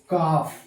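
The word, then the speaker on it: calf: जैसे कफ सी एल एफ कॉफ प्रिय विद्यार्थियों ये कफ लिखा है नहीं लिखा तो गया है कफ पढ़ा जा रहा है कफ यहां साइलेंट है और कफ मीन्स क्या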